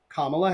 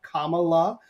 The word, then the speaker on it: Kamala: Vice President Kamala Harris, let's say her name right, Kamala.